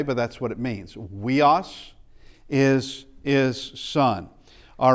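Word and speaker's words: υἱός: Okay, it is pronounced, we've already said it actually earlier, it's weos is what it is.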